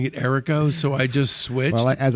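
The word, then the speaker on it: Errico: you know what's funny i always called it a rico and the last few days you've been pronouncing it erico so i just switched as i said i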